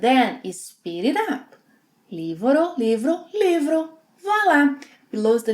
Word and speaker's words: livro: Livro. Livro with a r sound. Yeah, it's not livro, livro. The sound we have here is similar to the American English reduction of T in words like Betty, ri, ri, livro, livro.